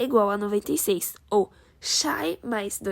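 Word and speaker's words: شيء: ser resolvido em árabe a palavra coisa é pronunciada como shai daí surge o nosso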